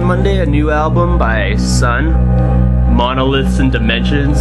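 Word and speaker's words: Sunn O))): a new album by son monoliths and dimensions it's probably the most epic album name ever son or sonno I heard that you don't pronounce the O so I guess I've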